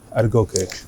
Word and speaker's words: Adegoke: Adegoke.